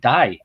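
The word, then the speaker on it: Dàibhidh: even take my name david and gaelic d-a-i-b-h-i-d-h and you pronounce it die well you know why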